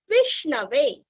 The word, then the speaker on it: विष्णवे: अभी श दो प्रकार के होते हैं, एक श शरद का, दूसरा श षटकार का। शरद का श हमें जिह्वा दांतों को स्पर्श करती है और षटकार की जो श है वो हमारे तालु को स्पर्श करती है।